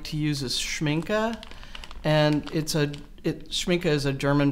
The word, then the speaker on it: Schmincke: Can you spell that for the chat? Schmincke. Actually, it's Schmincke.